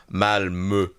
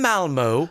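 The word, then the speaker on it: Malmö: I'm on a plane to Malmo. Oh, is that how you say it? Not Malmo. Malmo.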